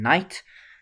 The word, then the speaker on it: knight: King, queen, rook, bishop, and then knight we use an N because we can't use a K. K is for king. And no one really pronounces the K in knight, so we use the N.